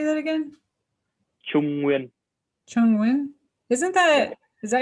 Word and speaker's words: Nguyen: Yeah, the N next to the G always like threw me for a loop, and it's like a W sound. It's well to say it correctly is Nguyen. Win.